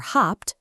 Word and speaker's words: habt: Wir haben, ihr habt, pronounced with a hard p, and sie haben.